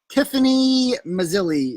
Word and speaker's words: Tiffany Mazzilli: Tiffany Mazzilli is how you say her name.